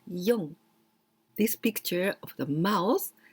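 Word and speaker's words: 四: We pronounce yon.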